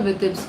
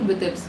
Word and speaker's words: Vitebsk: It's called Vitebsk. For people who don't know the pronunciation, Vitebsk. Many videos are coming up, but they don't even know how to pronounce that.